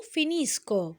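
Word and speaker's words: finisco: لو لاحظتوا لما قريت قلت ايو فينيسكو ايه لورو فينيسكونو، معنى كده ان الايو واللورو بياخدوا نفس النطق، نفس الصوت، اللي هو المقطع هنا سوونو دورو سكونو. عنه السوانو دورو ليهم نفس الصوت اللي هو الأجهر اللي هو سكو ك.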